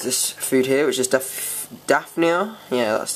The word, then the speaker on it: Daphnia: So another thing I got today for him is this food here, which is Daphnia. Yeah, that's how you say it. Daphnia.